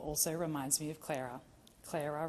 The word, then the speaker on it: Clara: Clara rhymes with Sarah.